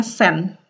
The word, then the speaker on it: sedan: Tulisannya sedan tapi dibacanya sen ya. Sama kayak di Indonesia, orang Swedia suka kayak bikin shorten gitu, bikin menyingkat-nyingkat pelafalan ya.